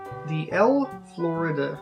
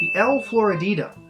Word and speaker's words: El Floridita: Now, the Hemingway Daiquiri came to prominence in a bar in Cuba, the El Florida. I can never say it right. Floridita? The El Floridita. That's it.